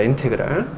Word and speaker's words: 인테그랄: 그래서 읽을 때는 인테그랄이라고 읽습니다. 인테그랄. 읽을 때는 S를 이렇게 길게 늘어뜨린 수학적 기호인데 얘를 인테그랄. 당연히 어디서 나왔겠니?